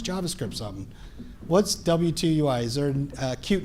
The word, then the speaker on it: W2UI: What's W2UI? Is there a cute name for it so I pronounce it right?